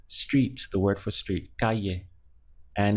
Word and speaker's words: calle: Street in Spanish is calle so the pronunciation is just two syllables car yeah so we have car here and this double el creates y so with the e yeah Calle is Street the word